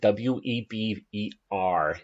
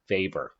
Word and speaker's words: Weber: next vapors idea of social class to weber w eb e r is pronounced weber a lot of sociologists get annoyed when people